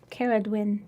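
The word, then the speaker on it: Ceridwen: we did but anyway somebody told me i said i said it wrong so apparently it's like i just think i better say it like princess bride all the time cara dwin good does it sound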